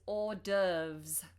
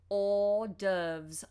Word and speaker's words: hors d'oeuvres: also hear the phrase hors d'oeuvres hors d'oeuvres obviously this is not an English word but this is how we say it or like o r or doves hors d'oeuvres hors d'oeuvres